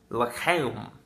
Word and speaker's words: l'chaim: L'chaim. I don't know how to pronounce that in Hebrew. I know the CH sounds like you're clearing your throat, so l'chaim, I guess, is how you pronounce it.